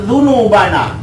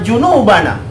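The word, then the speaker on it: ذنوبنا: Allahumma ighfir lana dzunubana. Itu huruf dza. Kalau dzunubana, ampuni dosa-dosaku. Kalau dibacanya Allahumma ighfir lana junubana, selesai.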